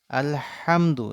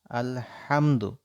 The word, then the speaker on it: আলহামদু: আলহামদু লিল্লাহি রাব্বিল আলামিন আলহামদু এই হা অনেকের আমাদের ভুল হয় আলহামদু এভাবে উচ্চারণ করতে হবে